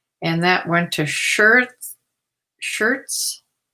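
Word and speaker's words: Schertz: that went to shirt shirts looks like shirts but it's spelled s-c-h-e-r t-z-t-z shirts texas there's my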